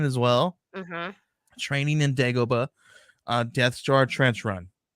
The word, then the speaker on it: Dagobah: a little Yoda one in the I always pronounce this in the dog bro. How do you say it? His little Dagobah. like Dagobah.